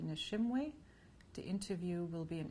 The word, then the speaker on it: Nishimwe: I can spell it, Nishimwe, Nishimwe.